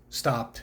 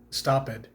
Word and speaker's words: stopped: don't pronounce it so this word stopped is just stopped it's not stop it the only exceptions to